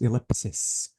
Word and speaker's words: ellipsis: This is, let me say ellipsis, because the correct way to say this punctuation mark is ellipsis. But the plural is ellipses.